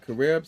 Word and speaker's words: Carib: So it came out on January 23rd, 2004 under a Carib theater known as Carib 5, Carib, C-A-R-I-B, that's how you pronounce it.